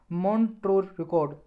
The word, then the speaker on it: Montreux: और इसका एक और रजिस्टर होता है जी, उसे बोलते हैं मॉन्ट्रो रिकॉर्ड, मॉन्ट्रो रिकॉर्ड, ये स्पेलिंग है जी MONTREUX, मॉन्ट्रो रिकॉर्ड।